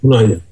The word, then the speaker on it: Hunanyan: Is it Hunanyan? Yes, it's correct, Hunanyan.